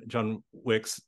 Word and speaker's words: John Wicks: we're talking about John John Wicks and it's I have to remember how to say his name with the plural part otherwise you get the movie thing but uh yeah but